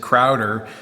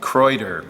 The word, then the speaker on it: Kraeuter: item a viewer pointed out that I was pronouncing I said Crowder um and um apparently the German pronunciation is like Croder.